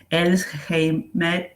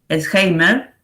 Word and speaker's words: Elsheimer: Y después otro artista, sí no lo mencioné hasta el momento, Elsheimer, primero sale mal la pronunciación, Elsheimer, que es un paisajista, también de la época, un paisajista que, bueno, de finales de 1500, ¿no?